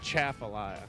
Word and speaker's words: Atchafalaya: of this base and Chapel I've worked on chef Alya no way the locals told me it's chafa life and I was scorned by a local at